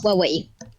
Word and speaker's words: Huawei: Alors, ça se prononce Huawei.